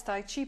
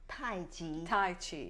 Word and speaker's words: Tai Chi: a slow motion it's Tai Chi pronounce Tai Chi right it's spelled CH but it's pronounced the J J um okay so